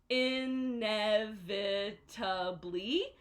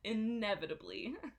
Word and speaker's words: inevitably: this word inevitably so the stress is here but that means that everything else is like a net so inevitably but it's inevitably so practice that one inevitably again opening your mouth